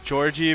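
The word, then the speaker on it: Yorgg: His name is Georgie, but it's spelled like Y-O-R-G-G.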